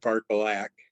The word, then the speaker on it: Barkalak: Anything, but they pronounce it Barkalak when I clicked on the audio version.